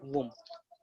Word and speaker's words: womb: That is uterus या वुम, WOMB, इसको वुम भी प्रोनाउंस करेंगे, है ना.